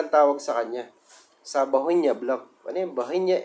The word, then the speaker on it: Bauhinia: Yan po ay yung tinatawag na Bohinia. Okay, Bohinia. Hindi ko sure kung anong pronunciation na. Bauhinia, ganun. Bauhinia. Basta ganun, Bohinia.